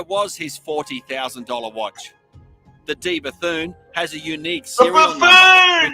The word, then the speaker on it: De Bethune: The D Bethune has a unique serial number. It's a buffoon! Can you pronounce it, OC? It's De Bethune, actually, but...